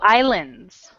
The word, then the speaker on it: island: Uh, it's kind of Iceland, Oh, islands. island, The S is silent.